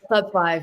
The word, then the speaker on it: Club V: Is it Club 5 or Club V? I know the V is the 5. Yeah. How do you pronounce it? Yeah, Club 5, yeah.